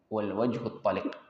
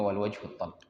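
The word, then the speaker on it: والوجه الطلق: Di antara para ulama menyebutkan akhlak yang baik adalah kafful adza wa badlun nada was-sabru 'alal adza wal wajhut taliq atau wal wajhut talq. Ya, bacanya wal wajhut talq.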